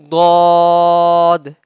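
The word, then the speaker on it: ض: heavily you got me next is god pronounced from the sides of the tongue sides of the tongue keep that thing in your mind pronounced from the sides of the tongue and roots of top back teeth god god next letter is they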